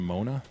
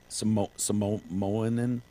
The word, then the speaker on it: Moana: There's a character named Mona.